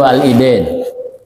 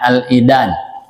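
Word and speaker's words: العيدان: tapi wa ayyamut tasriq jadi yang lebih tepat bacanya al-idan ya dengan alif al-idan 2 hari raya di matan tertulis Alidin tapi disyarah di Fathul Qarib di kitab tausih itu Al-idan jadi Rofa Al-idan dua hari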